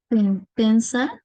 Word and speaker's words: pensa: O sea, lo vamos a pronunciar como una O.